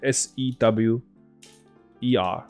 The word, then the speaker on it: sewer: underground sewer system，所以这个字 S E W E R 发音是 sewer，OK？、Okay?